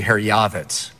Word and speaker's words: Herjavec: Herjavec? You know, the proper pronunciation, you'll be the only guy to ever hear this on TV, is actually Herjavec.